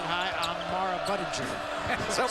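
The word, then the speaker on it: Budinger: A lot of people talk about how do you pronounce his name? Is it Buddinger or is it hard G? Hardg is right.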